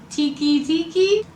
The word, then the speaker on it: Teke Teke: the Japanese version wrong I believe it's tiki-tiki but it's spelled Teke Teke and it is a